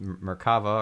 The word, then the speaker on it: merkaba: very cool and the merkaba that or in Hebrew it's pronounced merkava or merkavah is a three-dimensional structure